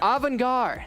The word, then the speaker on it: Avangar: Now, Avangar, how do I pronounce that? Avangar, thank you.